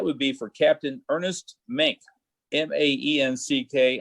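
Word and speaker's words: Maenck: be for captain ernest mink m-a-e-n-c-k i have no idea if i was pronouncing that correctly but i'm going to call him mink uh m-a-e-n-c-k he's a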